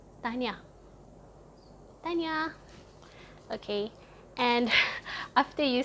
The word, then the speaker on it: Tahniah: It's I don't know if it's 2 syllables or 3 syllables, Tahniah, but you say it really fast, like Tahniah.